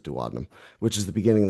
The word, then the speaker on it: duodenum: So this duct here runs into the duodenum or duodenum. I pronounce it duodenum, which is the beginning of the small intestine.